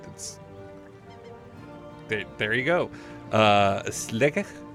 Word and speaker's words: Sligo: they there you go slick I believe is the pronunciation I can't do any of these right but Sligo was apparently the the